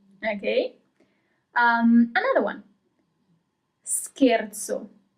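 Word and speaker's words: scherzo: Um, another one, scarzo.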